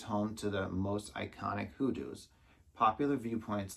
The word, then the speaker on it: hoodoos: All right, the park, and I had to Google how to say this, hoodoos.